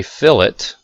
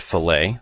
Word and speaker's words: fillet: So a fillet looks like the word fillet, but it's pronounced fillet.